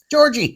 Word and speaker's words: Georgy: Gregory but that is clearly not Gregory giorgie Georgie no it's g e o r g y Georg Georgie spell that again g e o r g y